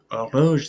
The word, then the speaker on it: horloge: So you might be thinking, wait, horloge, that starts with an H. But like I said, this begins with a vowel sound. And in French, the H's are almost never pronounced, rarely ever pronounced.